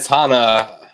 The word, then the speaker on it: Hana: you know Hannah is am i pronouncing her name right correct I think I I think Hana but I could be wrong it's on ice Hana okay so Hana yeah this all started